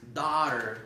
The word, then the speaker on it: daughter: Muchas veces decimos my Dora, pero recuérdese que no es Dora, es daughter, ok.